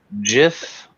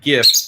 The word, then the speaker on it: GIF: And my theory is you say like GIF because the only letter you're missing is T.